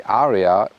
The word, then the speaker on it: Ariya: And the problem is for a German market, when you say Ariya in German, that's the exact pronunciation of Aryan.